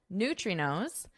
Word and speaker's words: neutrinos: And towards science recently, when physicists discovered that subatomic particles known as neutrinos, just listen to my pronunciation, neutrinos, can exceed the speed of light.